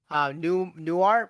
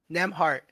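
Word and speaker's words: Nembhard: Newmart. You know what I'm talking about, right? Nimhart. I forgot his first name. Nemhart.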